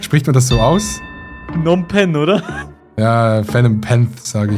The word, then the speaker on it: Phnom Penh: Ich hätte mal Phenom Penth gesagt. Kambodscha. Phenom Penth. Okay, das ist verrückt. Spricht man das so aus? Phnom Penh, oder?